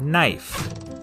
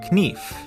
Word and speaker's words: knife: A good example of this change is in the word knife. In Middle English, it was pronounced knief, but after the vowel shift, the K became silent and the E turned to the diphthong I.